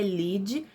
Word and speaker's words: lide: que é o lide a pronúncia é Lidi mas se escreve Lead com d mudo a vocês vão ver